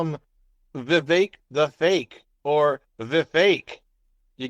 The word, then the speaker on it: Vivek: And Vivek, it rhymes with cake.